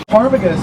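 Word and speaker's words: ptarmigan: Tarmagan spelled with a P at the beginning. So if you're reading on a page, you have to be very careful. It almost looks like the word paragon.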